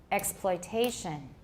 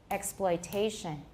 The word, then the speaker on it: exploitation: Note that the difference in rhythm between explanation and exploitation is that the second syllable of explanation has a reduced vowel, but this syllable in exploitation has a full vowel.